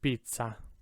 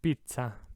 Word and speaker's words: pizza: dino right second word pizza now you know why that's pronounced like that too right i'm sure you've always wondered double z hold it out twice as long pizza pizza this third word